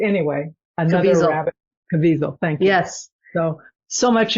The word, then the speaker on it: Caviezel: I can't pronounce his name correctly. Anyway, another Caviezel. rabbit. Caviezel.